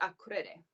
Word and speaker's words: Akureyri: So, I live in a place called Akureyri. Okay. Akureyri.